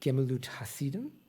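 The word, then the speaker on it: Gemilut Hasadim: And then there's another concept which is called, and I'm going to mispronounce it again, I'm sorry, Gemilut Hasidim. Yeah, you did great.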